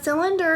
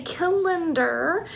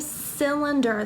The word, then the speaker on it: cylinder: say the word cylinder now a cylinder is the soft C sound remember our phonics rule